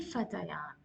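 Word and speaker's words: فتيان: You can't say Manil Fatayani.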